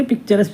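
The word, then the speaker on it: picaresque: पिकारिसक जो शब्द है स्पेलिंग्स पिकारो से लिखा गया लिया गया है। जिसका अर्थ होता है आवारा या घुमंतु। पिकारिस्क भी बोलते हैं इसे। पिक्चरस भी बोल देते हैं इसे।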